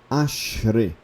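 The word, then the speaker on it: אַשְׁרֵי: Ashre. Ashre. Ok? O I ali, ele fica... É um I muito fraco. É um I breve, tá?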